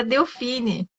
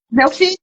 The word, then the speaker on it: Delfim: Porque eu gostei muito da Delfine, não sei se é assim que se pronuncia. Delfim, tá certo.